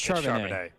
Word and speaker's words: Charbonnet: Is it Charbonnet or Net? It's Charbonnet. It's Charbonnet, 100%.